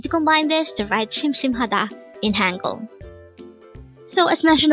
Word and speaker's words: 심심하다: 심심하다. This is pronounced as a 4-syllable word. The first syllable is shim, second syllable is another shim, third is ha, and fourth is da. Pronounce it with me. 심심하다.